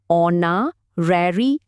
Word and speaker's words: honorary: শব্দটা হলো অনরারি। উচ্চারণটা খেয়াল করুন। অনা্যারি এর মানে হলো সম্মান হিসেবে কিছু দেওয়া।